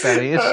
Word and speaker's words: BENEE: I'm pretty sure it's Benny. It's spelt like if you said Benny.